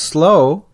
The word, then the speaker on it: slough: Then, there's the word slough, S-L-O-U-G-H. It's a two-way street. When pronounced slow, it is another word for a swamp.